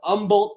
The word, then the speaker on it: Humble: 5110 pounds out of Umble Texas remember it's not humble the H is silent so it's Umble Texas not going to